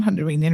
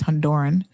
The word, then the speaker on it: Honduran: I didn't say it was only Hondinian, and it's not Honduranian really. It's Honduran, but Candians love to say Herinian cuz y'all love to not pronounce things properly.